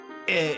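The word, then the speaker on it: え: E is always pronounced like E in the word net.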